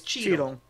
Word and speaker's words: Cheetle: It's Cheetle. There you Cheetle. Go. Like Sorry. Don Cheetle. Running in Hotel Rwanda. No, like C H E E T L E, but pronounced the same.